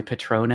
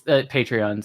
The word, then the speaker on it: Patreon: What is my Patron at now? Sorry. It's Patreon. Sorry. I was gonna say, I've never heard anyone say it like that.